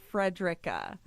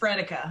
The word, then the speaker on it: Frederica: And yes, it is pronounced Frederica. Out here in San Diego, they do say Frederica. And it catches me off guard because it's just funny because it's like in Owensboro that told us who wasn't a native. Yeah. Well, and a few friends of mine even, you'll hear Fredica, and I'm like, but there's an R.